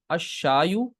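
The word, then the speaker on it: الشاي: ये शमसी हर्फ आ गया तो लाम प्रोनाउंस नहीं होगा, अशायु।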